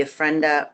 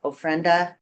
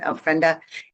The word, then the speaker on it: ofrenda: art show we have the ofenda ofrenda that how you pronounce it ofrenda and that is um